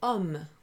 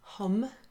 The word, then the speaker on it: homme: So the word homme, you don't normally pronounce an H in French. So it's not homme, we say homme.